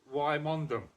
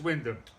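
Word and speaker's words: Wymondham: you who aren't who don't know how Windham is pronounced you might call it why mondum that is Windham he's gonna he's a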